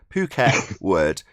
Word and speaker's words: Phuket Word: to to phuket word i've got to start saying it correctly phuket word it's about p h